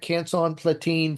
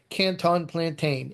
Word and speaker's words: Canson Platine: I can call it Canson Platine Fiber Rag all day long, and people will somehow call it Canton Plantain. It is not a Chinese fried banana, okay?